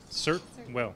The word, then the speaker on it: Certwell: You know little candies? Certs? Yeah, certs. Certwell. Certwell.